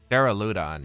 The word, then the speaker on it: Duraludon: Duraludon, yeah, that's how you pronounce it.